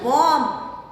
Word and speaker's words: bomb: Now another is bomb. You don't say bomb, you say bomb. Scent, scent, you S is silent. Circle the silent letters. Bomb ka B is silent, scent S is silent.